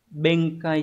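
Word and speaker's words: 弁解: Hayashi-san wa hissi ni benkai shite ita. Từ này đọc là benkai. Hán tự là chữ biện và chữ giải.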